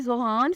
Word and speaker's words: Zohan: नाम है जोहान, spelling है ZOHAN। जोहान नाम की मानी है तोहफा।